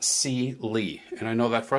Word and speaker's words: CyeLee: Lee is per is spelled c-y-e-li but it's pronounced C Lee and I know that for a fact because